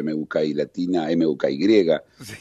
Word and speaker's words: Mookie: Aparte Muki, por supuesto en castellano se escribiría MUKI o MUKI latina, MUKY, sí. Pero como es el origen del nombre es en inglés, se escribe con dos O, que se escucha U, ¿no?